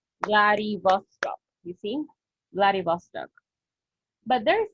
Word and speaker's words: Vladivostok: We read all the syllables. Vladivostok.